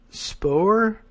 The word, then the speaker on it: Spohr: Spohr? S-P-O... I'm going to add an extra like half syllable to that.